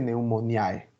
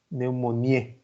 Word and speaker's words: pneumoniae: las exclusivas cómo y la terminación hay en latín se pronuncia porfa no me diga pneumoniae porque no existe pneumoniae es latín y se producía neumonía el tercer género importante